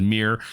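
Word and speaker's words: Myr: artifacts as well um I keep saying mer enforcer but apparently the pronunciation is mirr so mirr enforcer is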